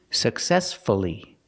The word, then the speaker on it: successfully: respectfully and successfully here we have two syllables before f l l y if you have two syllables and the stress is on the second syllable then PR pronounce the U respect see the stress